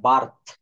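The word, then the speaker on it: birth: এভাবে অড গঠিত হলে আই এর উচ্চারণ আই না হয়ে আ হয়, আ। যেমন ফার্স্ট। তারপরে বার্থ, বার্ড, সার্কেল।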